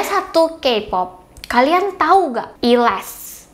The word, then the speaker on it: E'LAST: Kpop kalian tahu enggak elast Harusnya kayak gitu bacanya aku suka k-pop ini